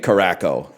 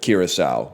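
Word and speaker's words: Curaçao: But then he did say Caraco instead of Kiraasau, which is really funny.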